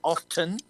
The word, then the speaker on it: often: maybe I say often. What do you guys say often? Isn't the T silent? It annoys me when people say often.